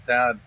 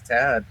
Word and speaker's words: Thad: Axel scoring, going to 12 down, tightening up with Thad. Excuse me. Got to pronounce the H in there. He's a big man. You can't say he's Tad anything.